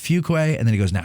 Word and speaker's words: Fuqua: He goes, it's pronounced Fuqua, and then he goes, now say it.